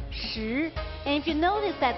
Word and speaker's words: 食: Food character in Chinese is pronounced 食.